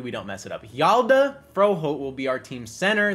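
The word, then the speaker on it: Hjalte Froholdt: Let's go ahead and actually get the correct pronunciation here, because it's not Halei. It's freaking Yalda Froholt. That's what it is. It's Yalda Froholt.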